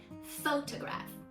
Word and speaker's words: photograph: weird right okay so the answer is the stress is on the first syllable photograph photograph okay but if